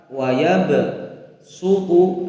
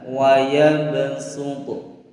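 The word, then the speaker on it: وَيَبْصُطُ: Huruf shad dibaca sin, yaitu pada surah Al-Baqarah ayat 245 pada lafaz wayab sutu. Nah, di sini ada huruf shad berharokat dhammah, di atasnya ini ada huruf sin. Nah, maka membacanya adalah wayab sutu, wayab sutu. Nah, shadnya diganti dengan huruf sin.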